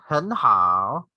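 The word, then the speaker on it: 很好: So you just say 很好, 很好. The first word, the first syllable is in the second tone or the rising tone.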